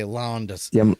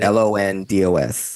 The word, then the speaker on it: Londos: Okay, Londos. Jim Londos. LONDOS. Yes, Londos. old man. I spell it with all the letters I have in